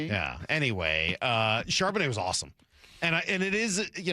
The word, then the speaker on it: Charbonnet: Well, whoever it was that was calling that game kept calling him Charbonnet, which was driving me nuts watching the replay of it last night. But whatever, it just you got the emphasis on the wrong syllable.